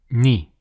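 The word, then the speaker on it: نِ: The difference being, it is below the letter, and it has an E sound. So that will be pronounced as Ni.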